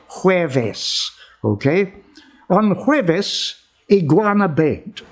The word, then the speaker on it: jueves: she did on hueves hueves means thursday in spanish as far as i know in pilipino we say webes but they say hueves okay on jueves iguana